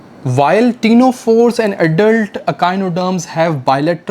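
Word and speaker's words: Ctenophora: है एक फाइलम है टीनो फ सी साइलेंट है इसमें और एडल्ट अकान र्म्स दे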